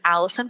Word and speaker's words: Allyson: Tok um under uh my name which is Allison but it's spelled with a Y so a l l